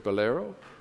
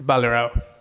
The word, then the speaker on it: Balero: Am I pronouncing your name correctly? Yeah, it's it's it's pretty close to what No, don't say it, please. It's Balero. Baloro. Baloro. Okay, I put the emphasis on the wrong syllable.